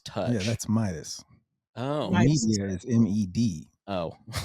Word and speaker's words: MeidasTouch: legal AF M's touch yeah touch but it's media's touch is how it's spelled yes the mest touch that's how it's pronounced the mest touch yeah m d a s touch yeah that's Midas oh media is me oh I was like